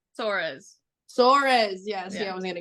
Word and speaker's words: Soares: So with the 4th pick, Washington traded to Dallas for Stephanie, pronounce her last name. Soares.